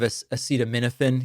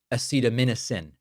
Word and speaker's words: acetaminophen: Now, sadly, Newsom mispronounced it. Instead of acetaminophen, he pronounced it acetaminophen.